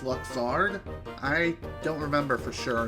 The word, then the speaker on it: Luxord: Almost sounds like I was saying mustard, but with Luxord. I think it's pronounced Luxard.